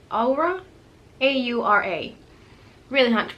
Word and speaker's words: Aura: I think I call it Aurora. These two words are so hard for me to pronounce. It's because there's a highlighter in there that is called Aurora, but the palette itself is called Aura, A-U-R-A.